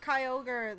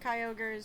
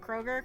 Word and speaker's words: Kyogre: public oh and go Kroger cuz she she kept calling it Kroger and I'm pretty sure she does it to make me mad that's mispronouncing Pokemon names she'll you've been called